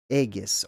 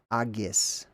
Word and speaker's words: Aegis: Aegis, or even specifically, it would probably be closer to Agis or Agis, but not the way that they pronounce it in the modern, which is Aegis. That's not how that originally would have been pronounced, because that letter G